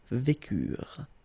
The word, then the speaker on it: vécurent: Nous vécûmes, final S not pronounced, vous vécûtes, same thing here, ils vécurent, so remember, mark for the plural, E and T is not pronounced phonetically, you don't get it, so vécurent.